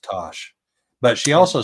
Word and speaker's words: Tass: So It's spelled TASS, but she explained it today to me in a way that I will never forget. So her full name is Natasha, Natassja. Oh. So she uses the TASS from Natasha, but it's pronounced Tosh.